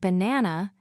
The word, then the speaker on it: banana: For example, in the word banana, the stress is on the second syllable, ba-en-a-na.